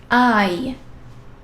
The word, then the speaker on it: hai: And yes, H, H is silent. Io, ho, tu, hai, lui, lei, ha, noi abbiamo, voi avete, loro hanno.